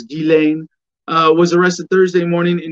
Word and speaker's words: Ghislaine: Jeffrey Epstein confidant Ghislaine, and the pronunciation, I think the proper French is Ghislaine, was arrested Thursday morning in New Hampshire.